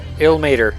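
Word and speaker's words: Ilmater: Ill matter. Eel mater. Ill mater. It's like tower. Illmeter. I was right.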